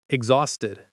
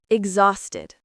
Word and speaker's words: exhausted: Exhausted. The H is silent. Listen again. Exhausted.